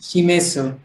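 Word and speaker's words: します: तो इसको अलग ही पढ़ेंगे बेंक्यू शिमेसु. तो ये थोड़ा अलग है. इंग्लिश प्रोनाउंसिएशन ना, शिमेसु. तो वो नहीं पढ़ेंगे इसको. शिमास शिमास शिमास.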